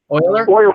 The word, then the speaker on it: Euler: And then you can either pay attention to the Euler version of the output, which is easier to use in a lot of circumstances, but has that has that problem.